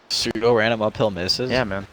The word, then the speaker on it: pseudo: It's actually Suedo.